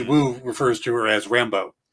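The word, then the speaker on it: Rambeau: sylvester stallone's character but everybody else called her rambo where you put the accent on the la long o which is the the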